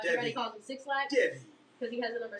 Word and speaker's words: Devy: It's not Dexy, it's just Devy.